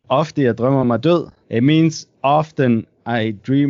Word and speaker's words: Ofte jeg drømmer mig død: How do you pronounce the album name? Ofte jeg drømmer mig død.